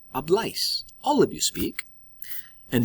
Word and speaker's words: habláis: In Spain, they would say AIS with an accent on the A, like habláis.